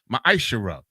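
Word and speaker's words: מעשר: 10 means tense in the Hebrew and it's pronounced maishara ten percent of every penny of any increase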